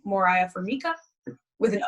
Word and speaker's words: Moriah: are all the same it's just my name Moriah fora with an o yeah right right right not morah Moriah right and I pronounced your last name wrong I thought I